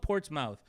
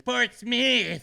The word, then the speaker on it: Portsmouth: Virginia Norfolk port's mouth it's spelled Portsmouth my my Mexican ass kept saying Portsmouth and the people were there it's Portsmith Portsmith I went on Portsmouth